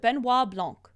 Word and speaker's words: Benoit Blanc: my highlighted comments that's why I cheered it's pronounced Benoit Blanc uh Elite gamer thank you for that three-month